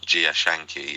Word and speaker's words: Jia Zhangke: And if I may, um the director that you mentioned at the end, Gia Shanki is how I was told to pronounce it.